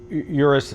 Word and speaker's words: Urus: they do the Lamborghini Urus. And by the way, the correct pronunciation of the car is Urus. But as lazy Americans, we'd say it Urus.